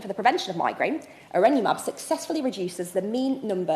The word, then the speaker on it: Erenumab: Take one CGRP blocker, I always pronounce this one wrong, Erenumab, I believe is correct, as an example.